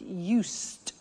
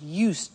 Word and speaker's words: used: listen to the pronunciation I said used with T sound used not use it or